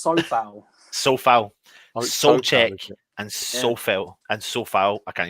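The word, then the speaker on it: Souček: Pronounce his name for me. Soucek.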